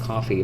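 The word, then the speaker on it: Ko-fi: on Kofi or coffee I think it's pronounced coffee but feels kind of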